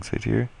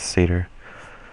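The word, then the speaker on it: Satyr: and then play voyaging saer Sader the actual pronunciation is Sader someone commented on that last video and I'm like oh I never know how to say that but apparently I just cannot comprehend saying Seder I'm going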